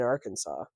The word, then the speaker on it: Arkansas: time I see it I want to say AR Kansas that's fair because it is spelled like Kansas with R in front of it um but I